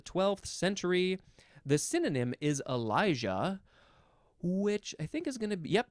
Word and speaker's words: Elijah: think it's possible that the Y sometimes is pronounced as like a j sound Elijah elah Elijah so that's